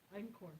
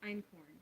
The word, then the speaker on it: einkorn: Einkorn. Einkorn.